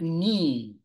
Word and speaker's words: knee: arm you have leg leg leg you have knee These are the knees Ok KN KN then